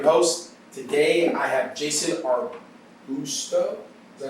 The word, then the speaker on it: Arbusto: Today I have Jason Arbusto.